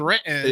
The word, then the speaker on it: Renton: Renton is the only the correct way to say Renton is Renton.